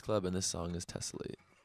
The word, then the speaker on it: Tessellate: Is it Tessellate? Yeah. Mm-hmm. Is that how you pronounce it? That's exactly it.